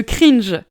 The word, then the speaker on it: cringe: Le sujet étant la vulnérabilité ou le cringe. Est-ce que je le prononce bien ? Oui, parce que Mélanie disait gringe comme le Gringe le film.